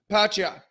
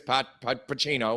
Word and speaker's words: Pacquiao: And Lampley failed like 4 or 5 times to pronounce his name, and then just, we'll get on with it anyways. Pacino, whatever it is. Pacquiao.